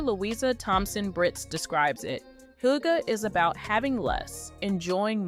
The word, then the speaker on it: Hygge: Hygge, pronounced Hygge, is a Danish concept that involves taking time